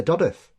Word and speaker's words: Dodworth: It'll say Dodworth, whereas we say Dodworth. And so you're like, it's a bit posh. Yeah. We don't pronounce it. There's no need for that W there.